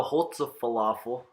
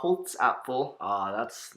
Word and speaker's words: Holzapfel: And she also connects with Frau Holze Falafel. I'm sorry, Bryce, I probably butchered that I pronunciation. believe it's pronounced Frau Holzapfel.